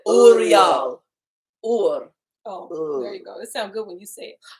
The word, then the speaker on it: Uriel: Oreo. Oreo. Oh, that's where we get Oreos from. Gotcha. I didn't say Angels Oreo. be- I said Uriel.